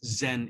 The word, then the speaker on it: Zen: became the Zen School the word chan is a Chinese character it's pronounced Zen in Japan so Zen is is